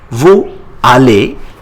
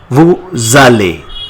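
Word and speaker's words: vous allez: r you go becomes Vu Ali but with Leo we say it Vali The Zed comes between s and a Vali how do you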